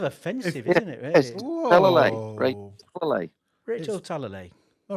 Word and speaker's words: Talalay: And her last name is Talalay. So that's Talalale. Talalay. Rachel Talalay. Simple as that. No, there it is on the screen. It's kind of offensive, isn't it? Really? Yes. Talalay.